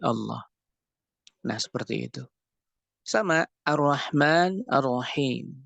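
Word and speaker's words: الله: bahasa Indonesia kata nah Allah itu awalnya adalah al-ilah Kemudian hamzahnya untuk memudahkan pengucapan dihilangkan sehingga menjadi Allah nah seperti itu sama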